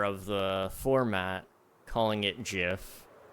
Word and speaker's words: GIF: old question is it gif or is it gif it's GIF 100% the G is for graphical so it must be a g uh a hard G you know at least